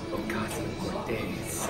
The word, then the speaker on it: Ocasio-Cortez: How do you actually pronounce it? Is it Ocasio-Cortez or So Ocasio-Cortez. Yeah. Ocasio-Cortez.